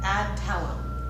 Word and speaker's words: Adtalem: And it's, how do you pronounce the company name? Adtalem.